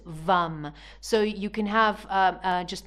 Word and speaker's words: vam: Okay, now it's spelled V-A-M, but it's pronounced vam.